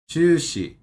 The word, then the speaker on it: 中止: Chushi. Like juicy, but not.